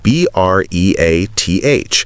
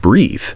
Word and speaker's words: breath: Breath, without the E at the end, is pronounced with a short vowel sound, breath, like the word health or death.